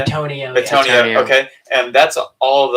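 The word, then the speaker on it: Bitonio: So we have Armstead, Andrew Thomas, Jason Kelsey, Quentin Nelson, Tristan Wirfs, Joel Bentino. Is that how you say it? Betonio.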